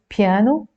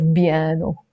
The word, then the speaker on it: piano: B in Arabic okay so it's piano some Arabs pronounce it as Bano so we will need